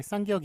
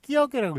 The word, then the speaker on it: 쌍기역: 예, 쌍기역이 있는데 요거 끼역이라고 읽습니까? 아니죠. 끼역이라고. 이것도 안 돼요. 안 되고 저번에 무한도전 하하의 얘기를 들어봤지만 예, 이렇게 했다가 이제 무식하다는 얘기를 듣습니다. 예, 어떻게 됩니까? 앞에 쌍자를 붙여가지고 쌍기역 예, 그런 식으로 쓰는